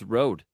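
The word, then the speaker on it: Røde: I would say it's road. Yeah. Okay. Yeah. And it is actually road, but it is the word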